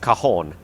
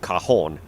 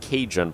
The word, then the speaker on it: Cajon: apparently this is pronounced cajon um oops don't want to do that apparently this is pronounced cajon i thought it was pronounced cajun but apparently it's pronounced cajon which is quite interesting